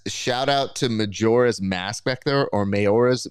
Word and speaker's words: Majora: are watching bji gami says shout out to Majora's Mask back there or mayor's mask back there